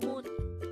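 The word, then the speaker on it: 머리: Term for head is mori. Again, it's mori. This is pronounced as a two-syllable word. The first syllable is mo, and the second syllable is ri.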